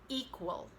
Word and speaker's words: equal: So we don't really say the E, it's reduced in equality, but then the E is stressed when you say equal.